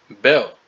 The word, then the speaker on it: Baal: Sumeria which was the ancient Babylonian Empire right pronunciation Bell the god ultimately became known as the Greek